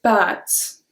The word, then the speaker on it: pâtes: So remember, accent circonflexe, we make the word longer. Peux-tu égoutter les pâtes, s'il te plaît? If you say pâtes, it's the leg of an animal. Pâtes. But here we say pâtes.